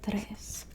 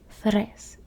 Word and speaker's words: tres: two okay we have tres notice there's no h it's not fres it's just Tres and it's spelled that